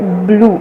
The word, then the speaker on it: Bloo: It is Blue, actually it is BLOO and not BLUE.